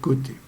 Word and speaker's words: côté: le s du bout ça veut dire qu'il y en a plusieurs on le prononce pas et donc ça fait